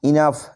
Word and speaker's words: enough: ENOUGH, ইনাফ এর অর্থ হলো যথেষ্ট।